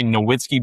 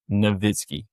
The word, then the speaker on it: Nowitzki: I want to say Nowitzki, but I think it's pronounced Nowitzki.